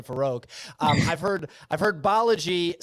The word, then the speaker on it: Balaji: like how to say his name, so it's Balaji.